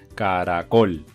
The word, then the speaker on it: caracol: último lugar por ejemplo la palabra caracol tú dices caracol y como dices caracol col es la sílaba tónica porque le estás dando la mayor fuerza en la última sílaba vale tenías tres sílabas acá era kohl pero como le das esa fuerza en la última sílaba por eso es una palabra aguda vale otro ejemplo de